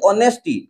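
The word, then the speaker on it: honest: তিনটা ওয়ার্ড চল তিনটা ওয়ার্ড এক্সামপ ওয়ার্ড লিখ অনেস্টি এন এস প্রথম অনেস্ট লেখ অনেস্ট ওয়ার্ড লিখ অনেস্ট অনেস্টিয় লিখলি হনেস্ট অনেস্টলি এজ উচ্চারণ হয়নি ও উচ্চারণ হয়ে অনেস্ট অনেস্টি অনেস্টলি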